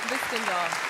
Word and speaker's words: Hvistendahl: Hvistendahl. Hvistendahl? H is silent.